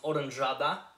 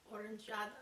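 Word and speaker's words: oranżada: So it's pronounced Oranjada. Oranjada.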